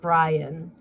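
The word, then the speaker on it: Bryon: Um, so what I my favorite part about this whole stupid uh Byron gnome, Brian Gnome, sorry, it's spelled weird. It's B R Y O N B R Y O N. Brian, cuz I know you boys want to go look at those titties later.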